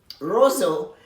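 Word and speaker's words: Roseau: people we'll talk about them in a bit rosso is the name of the city r-o-s-e-a-u not spelled like the rosso you hear in canada the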